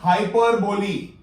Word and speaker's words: hyperbole: It is pronounced like this. If you know how to write Hindi or read Hindi, hyperbole. It is not hyperbole or it is not hyperbole. It is hyperbole.